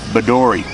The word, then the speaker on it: Bedourie: Bedourie.